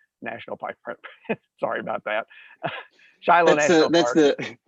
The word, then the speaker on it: Shiloh: Shiloh National Park. That's the American pronunciation versus the Hebrew pronunciation.